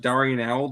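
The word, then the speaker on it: d'Arnaud: I love doing Nick his name is pronounced Darian owl that's gold Braves yes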